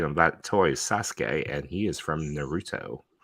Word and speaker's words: Sasuke: chat the chat is informing us that the pronunciation of that toy is Sasuke and he is from Naruto okay that's okay okay Sasuke oh my God Sasuke and now these are